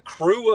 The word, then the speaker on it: Krewe: She's in the Crew of Eve. It's spelled Krewe. That's how it works in Mardi Gras world in New Orleans.